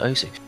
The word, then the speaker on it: osu!: I feel sad because I feel like it's going to go to OSU before it goes to OS, the proper pronunciation, because there's just so many people that call it OSU at that point.